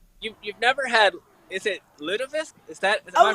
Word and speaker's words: lutefisk: You've never had, is it lutefisk? Am I pronouncing it right? Yes, we used to sometimes have lutefisk, not very tasty, but it was traditional.